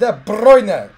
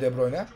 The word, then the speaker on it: De Bruyne: De Bruyne, abi nasıl okunuyor De Bruyne? Aslında De Bruyne diye okunuyor. Belçikalı ya. Ama İngiltere Premier League Super Speaker'i De Bruyne diye okuyor. Aynen onlar, o çünkü İngilizce yapıyor işte.